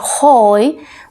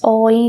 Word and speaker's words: hoy: oh instead of saying hoy we say oh it works o in here like this one instead of saying hold we say oi because the h has no sound at all in spanish and the u between